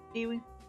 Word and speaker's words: Ewan: Ewan. Ewan. Like Ewan McGregor.